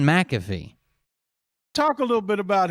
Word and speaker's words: McAfee: they from mcfay oregon mcfay is not how you say it either it's john mcafee talk a little bit